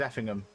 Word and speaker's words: Effingham: I'd say it is Effingham. Be like Birmingham, but effing instead of Birmingham.